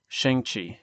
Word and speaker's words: Xiangqi: Xiangqi, let me make sure I'm pronouncing this right before y'all flame me in the comments. Xiangqi.